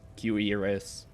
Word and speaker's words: cuirass: I now know how to pronounce cuirass. Assuming I always used to pronounce it like curious. Cuirass.